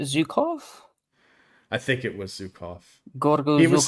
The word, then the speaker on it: Zhukov: I think it was Zukov. Gorgo He was. Zhukov.